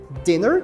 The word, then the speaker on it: dinner: é o jantar e cuidado com a pronúncia daquele i esse I do dinner é aquele I curtinho que eu já mencionei antes então a gente fala dinner não vá dizer dinner Ok não diga dinner que não existe dinner